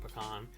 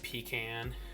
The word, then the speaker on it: pecan: the way i'm saying pecan i don't say pecan it's pecan let me know how